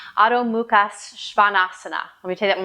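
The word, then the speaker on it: Adho Mukha Svanasana: And in Sanskrit, this is pronounced Adho Muhka Svanasana. Let me take that one more time. Adho Muhka Svanasana.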